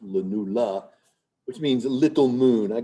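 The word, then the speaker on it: lunula: This kind of white structure, which is called the lenula. Sometimes spelled with a a but traditionally just spelled with a e on the end. Len, but just pronounced lenula, which means little moon.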